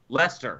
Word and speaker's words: Leicester: how do you pronounce it how do you pronounce it uh uh leicester lester great rugby team yes l-e-s-t-e-r lester pretty much